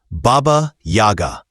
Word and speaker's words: Baba Yaga: For those outside these traditions, the pronunciation can feel strange. Baba Yaga. Simple, sharp, memorable.